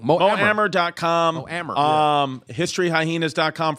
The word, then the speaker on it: Mo Amer: Mo Amer.